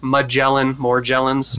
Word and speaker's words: Morgellons: If you have those three, I had all three, Epstein-Barr, Morgellons, as we talked about, and that is the correct pronunciation, like Morgellons. Morgellons, okay.